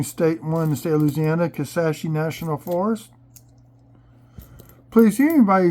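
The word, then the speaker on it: Kisatchie: national park going state in one state Louisiana kasashi National Forest please see anybody who watches these videos don't not pronounce that you do now because I've seen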